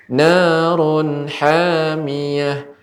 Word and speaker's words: نار حامية: Ya, untuk pengucapan narun Ibu kepanjangan. Narun hamiyah. Bagaimana caranya? نار حامية. Cukup ditekan Ibu Narun hamiyah.